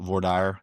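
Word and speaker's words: voir dire: And that's why we have what's called jury selection, or in Texas, we call it vorire. In other states, they pronounce it differently, but the way I was taught is VAR, where you're actually going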